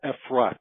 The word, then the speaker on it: Efrat: It's called Efrat. It's I'll spell it out for you.